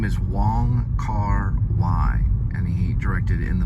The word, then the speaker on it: Wong Kar-wai: It's spelled W-O-N-G, and then the middle name is K-A-R, and then W, I believe A-I, and it's pronounced Y, so Wong Kar-wai is what he goes by.